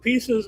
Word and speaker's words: Peaces: He's the president and co-founder of Pieces of Me, which is spelled PEACES.